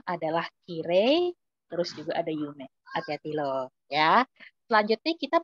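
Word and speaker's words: 有名: Begitu juga dengan Yume atau terkenal, famous, dia tidak masuk di kata sifat i karena begitu diucapkan, dilafalkan dia bukan Yume, melainkan Yume.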